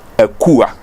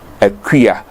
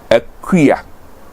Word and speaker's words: Akua: please note the pronunciation if you look at it you may pronounce it Akua but that is not so it is a crea they oh and then